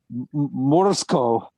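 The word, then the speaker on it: Morozko: according to the film, I'm trying to pronounce it the way the people in the film pronounce it, Morsko.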